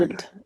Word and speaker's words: Rysand: It tells you Resand.